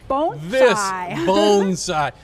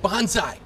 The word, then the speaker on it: bonsai: in Cockeysville, and we're going to talk about bonsai. Here's the funny story about this. From last year, Carrie, when I was doing the segment with her, I said bonsai, like everybody else, and she said, no, it's